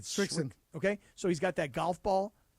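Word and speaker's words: Srixon: I think it's pronounced Strix. How do you say it? Strixon.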